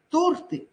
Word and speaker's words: торты: щавель столяр маляр но правильно говорить торты ну никак не торты торты это будет правильно правильное произношение слова жалюзи но